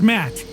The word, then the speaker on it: Matt: not an inch less the names Matt the second T is silent sure sounds like an